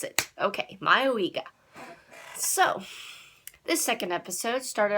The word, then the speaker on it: Mayoiga: That's how I'm gonna pronounce it. Okay, Mayoiga.